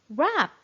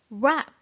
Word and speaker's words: wrap: word is good job rap w is silent rap which part of a